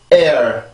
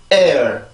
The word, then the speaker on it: air: 그래서 이 발음을 할 때는 에 따로 어 따로 이렇게 발음을 하는 게 아니라 하나의 소리인 걸로 봐서 한 번에 발음을 해줘요. 그래서 성대만 긴장을 시켜서 air 이렇게 발음이 되지만 우리나라